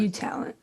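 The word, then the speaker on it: UTalent: Well, how do you say that? UT Talent or U It's Talent? U Talent. U Talent? One word.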